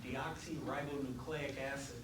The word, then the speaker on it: deoxyribonucleic acid: So we'll go through these one at a time, and we pronounce that deoxyribonucleic acid, which is just the snazzy word that DNA stands for.